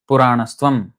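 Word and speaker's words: Purāṇas tvam: So if you have to be very, very strict about the way we pronounce this, it has to be pronounced together. Puranastvam.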